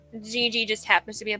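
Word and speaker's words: Jiji: And turns out that Gigi is in fact a girl, which is okay because, you know, Gigi sounds like a feminine name as well.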